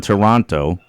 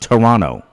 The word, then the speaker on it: Toronto: with a friend in Toronto notice I said Toronto with a t that they don't say it like that up there it's called Toronto anybody that's from there says Toronto they leave out the middle T right silent